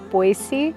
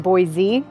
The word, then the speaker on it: Boise: name of the city, Boise, with a soft C. I think when I first got here, I was saying Boise, as if there was a Z in the spelling.